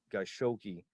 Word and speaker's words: Khashoggi: So it's 2018, and you have Jamal Khashoggi, and I'm mispronouncing his name, is Khashoggi.